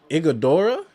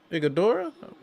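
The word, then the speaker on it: Iguodala: There's also what is uh Igodora. Is his name? That's how you pronounce his name. Igodora.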